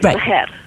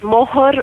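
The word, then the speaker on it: mahr: correct name, which is maher, right? Yeah. But maher is sometimes called mohor or maher. It's pronounced differently.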